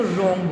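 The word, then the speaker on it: wrong: रोंग, ठीक है रोंग डब्ल्यू से शुरू हो रहा है, डब्ल्यू उसका साइलेंट होता है, उसको रोंग बोलते हैं.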